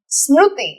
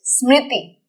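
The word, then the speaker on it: स्मृति: Smritihi. And not Smru. It's not Krishna. It is Krishna. It is not Smruti. It is Smriti.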